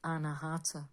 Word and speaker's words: Anahata: and put my glasses on so I can pronounce it correctly for you. It is in Sanskrit the Anahata, which is the heart chakra.